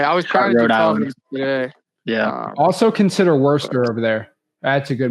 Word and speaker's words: Worcester: was yeah also consider Worster over there that's a good Market too to me it took me two years to learn how to say it the right way but Worster in Worcester oh Worcester yeah it's